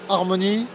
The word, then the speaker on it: Harmon.ie: Donc on rappelle Harmony. Harmony, Harmo.ie. mon.ie. Voilà, qui se prononce Harmony.